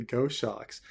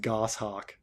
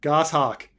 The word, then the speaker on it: goshawk: doing what were you doing with with the ghost shocks you're right or Robert doesn't know about it you think of all the it's pronounced goshawk fine goshawk um see this is one of those situations